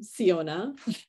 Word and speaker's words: Siona: yours thank you Fiona I am so glad to be rhyming with your name siona um thank you for